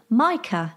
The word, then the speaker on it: Micah: says by the way my name is pronounced much like Michael but without the L stress on the first syllable which is why I'm sure she means Micah the work so I